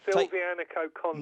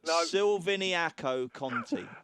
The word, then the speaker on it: Silviniaco Conti: You put an extra syllable in. Go on, right, let's go again, okay? Take your time. Okay, Silvianico Conti. No. Silviniaco Conti.